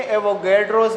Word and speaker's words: एवोगाड्रो: एवोगैड्रोज number या एवोगाड्रोज number भी इसको कहते हैं, दोनों प्रोनाउंसिएशन इसके बारे में ठीक है।